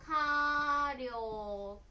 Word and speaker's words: 火力: 火一つだけだったら火って読みますけれども、一緒にすると火力です。